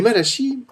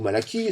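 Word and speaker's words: Malachie: le Prophète Malachi et Malachi ou Malaki selon la prononciation que vous préférez termine sur ces versets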